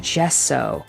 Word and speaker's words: gesso: apologize for that misinformation it is supposed to be pronounced gesso like with a j so i do apologize for